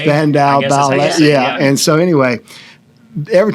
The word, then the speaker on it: Spandau Ballet: Spandau Ballet. Spandau Ballet.